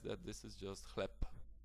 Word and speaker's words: chleb: So if I would like to pronounce this word with the way it's actually written, I should say chleb, but as you can hear, it sounds a little bit unnatural.